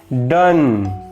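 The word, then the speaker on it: done: ठीक है, इसके कुछ और एग्जांपल भी हो सकते हैं, जैसे कि डन।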